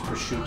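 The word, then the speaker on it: prosciutto: left out you know like I hear Italians people say Italians will say sometimes like I'll have the pursuit and I go oh that's how you say it and then I'll I'll be at a restaurant I'll have the pursuit and then people go no it's push to oh the police are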